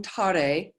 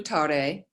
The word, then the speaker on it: Tare: This is pronounced, and the E's on the end are kind of an A sound. So it's Om Tare, Tu Tare, Ture, Soha.